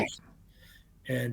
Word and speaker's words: Weihnacht: So, and just remember that W's are pronounced V over there, so it's Right. Weihnacht, and V's are pronounced with an F, um, and Nacht.